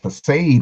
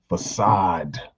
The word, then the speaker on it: facade: want y'all to run around here talking about forsade what's for save now that's pronounced facade in other words it's a um artificial perception